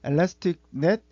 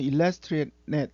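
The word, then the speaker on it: Elastic Net: 엘라스틱 넷 또는 일러스트릭 넷 이렇게 발음은 두 가지로 하는데, 엘라스틱넷 회귀는 이제 두 모델의 규제를 적절하게 과적합을 방지하면서 중요한 변수를 선택해서 예측 성능을 향상시키고자 만들어진 모델이에요.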